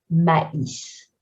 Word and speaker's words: maïs: And we have an I tréma, because if we didn't have it, it would be a combination of AI, which makes the sound E, mais, but here it's maïs.